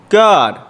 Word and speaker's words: Gad: next to it, G-A-D, God. The same way it's pronounced in Enoch, with that little vowel point above the A.